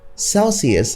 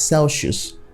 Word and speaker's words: Celsius: next one is Celsius Celsius has three syllables but we end up pronouncing it as Celsius or Celsius which leaves it as two syllables the next word is